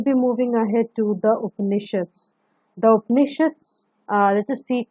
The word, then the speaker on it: Upanishad: Okay, so their ideas and teachings were also recorded in the Upanishads. Upanishad, as you can see, the word Upanishads is basically it contains three syllables. That is Upa, Ni, and Shad.